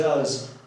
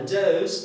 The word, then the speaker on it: does: Ok, so does, trzecia osoba liczby pojedynczej od czasownika do, czyli he does na przykład, on robi. Ale does to jest liczba mnoga od do, czyli łania.